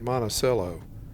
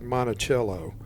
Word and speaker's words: Monticello: Our first town in Utah is Monticello. Sitting at over 7,000 feet, this high country town is the gateway to the Abajo Mountains. Fun fact, locals pronounce it Monticello, not like Monticello.